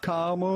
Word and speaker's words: caramel: So how do you go about pronouncing it? There's going to be two different ways depending on your personal preference. Either caramel, The non-English guy's caramel, telling us.